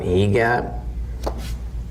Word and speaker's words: Eget: Egret? Spelt differently. Like the bird. That's Egret.